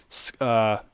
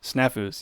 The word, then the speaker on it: snafus: John Jones, of course, we all know, is having some scafus. Is that how you say it? Scafus or is it staffus? What is it? Snafus, yeah. Snafu with the UFC right